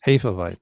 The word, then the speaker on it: Hefeweizen: Do you want to say it right or do you want to say it American? Say it right and then American. Okay, so it's Hefe. Mm-hmm. It's Hefe, Hefe, and then Weizen. So Weizen.